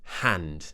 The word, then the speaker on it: hand: word hand so firstly make sure your H is not too strong we don't want H we just want a soft a soft breath then we open the mouth we push the tongue down and forwards a a a like in hat sat and mat hand common mistake with